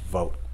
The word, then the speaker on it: Vought: guy named russell vogt it's spelled v-o-u-g-h-t pronounced vote and let's do a